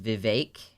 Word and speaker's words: Vivek: vote Republican yeah so his name is Vivek it rhymes with cake and yes he's Indian